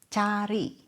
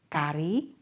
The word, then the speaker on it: cari: For example cari. cinta cepat cukup cuaca. Not kari. Not sari.